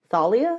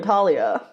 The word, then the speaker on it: Thalia: her name is Thalia oh that's how you say her name Thalia I've been calling her Talia yikes broke that until